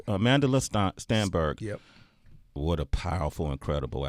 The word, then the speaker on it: Amandla Stenberg: Amandla Stenberg. Amandla Stenberg.